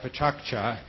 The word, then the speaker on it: pecha kucha: experiment and the format is called alcohol it pecha kucha and pronounce it that way and he might be